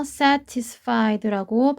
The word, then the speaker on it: satisfied: 그래서 satisfied라고 발음해도 되지만 satisfied로 들릴 수도 있으니 기억해 주시면 좋겠습니다.